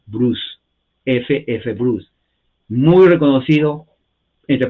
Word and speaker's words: Bruce: f f Bruce e b r u c e la e no se pronuncia en inglés la c es s se pronuncia Bruce ff Bruce muy reconocido